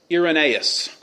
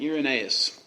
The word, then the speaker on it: Irenaeus: We're going to look at a man named Ignatius, a man named Polycarp, Justin Martyr, and Irenaeus is how you say that name. Irenaeus.